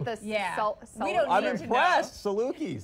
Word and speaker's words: Salukis: I don't know how to pronounce it. It's like the salt. I'm impressed. Salukis. Salukis.